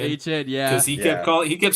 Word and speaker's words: Etienne: I forgot that Trevor Etienne's name is actually pronounced H-N. H-N, yeah.